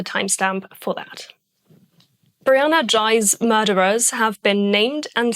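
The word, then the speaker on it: Ghey: mispronouncing her last name spelled g he y I thought it was gay it's actually ji the two murderers are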